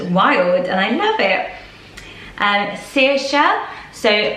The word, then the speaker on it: Saoirse: Saoirse, so pronounced as you see it on screen.